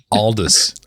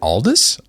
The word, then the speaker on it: Aldous: said like is it Aldis? Aldis? No. Yeah, it's Aldis. So British people pronounce it oldest. Aldis but Canadians like North America it's like oldest I guess.